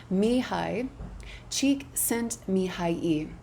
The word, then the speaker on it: Csikszentmihalyi: Let me see if I can get the pronunciation right. It's actually a really tough name. Dr. I have my notes right here. Mihai Csikszentmihalyi.